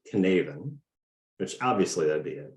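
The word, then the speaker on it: Cynefin: what do you think this is so it's pronounced knaven which obviously that'd be it right uh so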